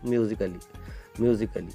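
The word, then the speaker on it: musically: लेकिन यहाँ पे ए साइलेंट का रूल क्या कहता है कि अगर ए के बाद में डबल यल वाई आए तो आपको कभी भी ए को प्रोनाउंस नहीं करना है, मतलब उसको साइलेंट ही रखना है।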